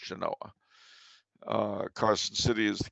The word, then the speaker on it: Genoa: territorial Capital Genoa spelled like Genoa but it's pronounced Genoa uh Carson City is the capital Reno the